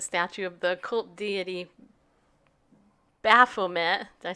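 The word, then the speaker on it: Baphomet: you say it then I would give the a more of a a sound like bah-bah Furman like kind of like a sheep but we can make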